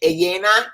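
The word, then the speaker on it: Ellena: I'm trying to read the name Elena, E-double-L-E-N-A. So double L's in Spanish. It's pronounced with a Y.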